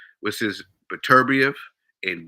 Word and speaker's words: Beterbiev: Well, what people would say, what's his Beterbiev and Bivol. That's the right pronunciation of their name. I say Beterbiev and Bivol.